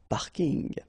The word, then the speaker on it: parking: from English but still you should pronounce it the French way parking parking okay and the last